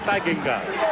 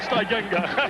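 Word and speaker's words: Steigenga: it I'm sure but the family calls it Singa so they we'll call it Singa pass got away in the corner and the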